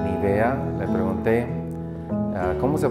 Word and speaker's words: Nevaeh: vida de Melanie y Nivea. Le pregunté, ¿cómo se pronuncia tu nombre? Sí, Nivea, así como cuando no quiere ver uno.